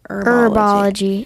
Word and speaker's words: Herbology: Is it herbology or herbology? Herbology. I think Herbology. the H is silent.